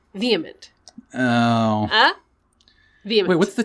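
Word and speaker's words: VHEMT: and it is pronounced vehement oh ah wait what's the t voluntary human extinction movement oh they pull in the end of the word movement they're just trying to say vehement ugh i hate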